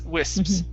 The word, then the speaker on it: wisps: with in that case we don't pronounce the p so explosive uh yeah it's not uh you're not going to say okay it's wisps so it's really quick your your lips are basically going to touch and to stop the